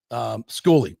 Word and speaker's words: Schooley: Some couple people called it School. Some called it Schooley.